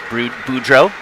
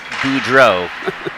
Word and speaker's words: Boudreau: say the name Bruce Boudreau. All the credit in the world to the Capitals broadcast team when he was a coach. But like any French word, you just don't pronounce the last 3 letters, right?